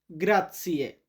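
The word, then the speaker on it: grazie: আমি আপনাদের বোঝানোর জন্য বাংলাতে উচ্চারণ লিখে দিয়েছি। ইতালিয়ান লিখেছি প্লাস বাংলা লিখেছি। ধন্যবাদকে আমরা কি বলব? গ্রাতসিয়ে।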